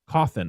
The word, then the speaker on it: Cawthon: But he Cawthon. Caw, bitch. Like a coffin.